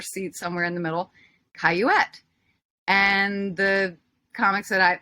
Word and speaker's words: Cayouette: in the audience knew my name how to pronounce it and my manager yelled from her seat somewhere in the middle caillouette and the comics that I I excuse me I can't hear you and she says caillouette and he says I can't hear you and